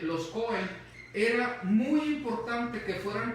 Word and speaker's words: Cohen: Porque en esta porción de lectura se dice acerca de los sacerdotes, de los Cohen, ¿verdad?, de los Cohen, aún si no pronuncias la H, los Cohen, era muy importante que